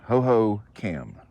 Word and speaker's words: Hohokam: Hohokam. Spelled with a K.